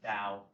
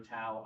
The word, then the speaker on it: Tao: Sometimes you'll see it spelled with a T, but it's kind it's pronounced as Dao. I'll say Dao or Tao.